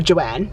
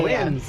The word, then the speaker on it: Joann: Or Joanne, should I say? There's no S on the end. Joanne. Joanne is the store, but Yeah, Joanne's.